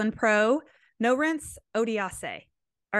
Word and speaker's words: Norense: But it's Norense, like Lawrence, but with an N.